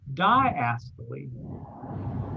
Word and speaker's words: diastole: fancy word for that it's called diastole let's spell d i a s t i'm sorry d i a s y s t o l diastole the law it's a long e sound at the end okay so we've got